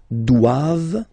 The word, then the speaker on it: doivent: And then the last one, ils doivent. So same thing, classic ending for the plural form, ent here. Okay, but then you don't pronounce it. Doivent, doivent. Elles doivent.